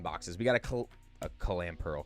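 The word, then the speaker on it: Clamperl: We got a a clam pearl. Clam pearl. Two syllables, not three.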